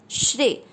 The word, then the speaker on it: श्रेय: पहला चरण श्रेय। श्रेय में श्र का अर्थ हुआ श आधा, श शंकर जी वाला वो आधा है और र है पूरा। र पूरे पर एक ही मात्रा, क्योंकि श्रेय में एक